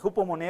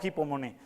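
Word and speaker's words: ὑπομονή: Esta palabra griega es hupomone, así se pronuncia, hupomone o hipomone.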